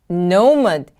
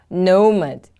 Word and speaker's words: nomad: Nomad, nomad. The stress is on the first syllable.